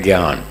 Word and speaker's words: ज्ञान: उत्तर भारत में इसका उच्चारण है ज्ञान। गुजरात वाले ज्ञान और महाराष्ट्र वाले ज्ञान, ज्ञान, वो इस तरह से बोलते। थोड़ा थोड़ा अंतर है।